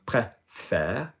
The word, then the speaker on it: préfère: So in other words, E with an acute is faster, E with a grave is longer, but it's the same position in the body. Air. So, je préfère acute grave, tu préfères acute grave, il préfère acute grave.